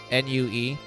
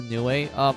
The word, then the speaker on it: Nue: It's spelled N-U-E, Nue.